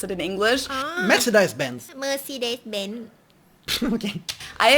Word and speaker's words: Mercedes: in Germany um so most Americans call this Mercedes yeah yeah in German we pronounced Mercedes Mercedes versus Mercedes matus so it's really pretty different and the full name of